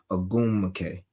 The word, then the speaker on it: Ogwumike: I say it like that because I'll be trying to not mispronounce it. Ogwumike.